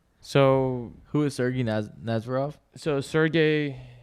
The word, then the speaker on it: Sergey: Sergey, it's pronounced Sergey. He's the CEO of Chainlink.